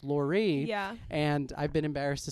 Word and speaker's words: Lore: together and I've brought you on as. That's okay. And um someone told me quite recently that it's Lorie and I've been embarrassed to speak with you ever since.